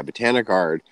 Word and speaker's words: BotaniGard: But so, like, her thing, she thinks Botanigard, am I saying it right? Yeah, Botanigard is one of the safest products out there,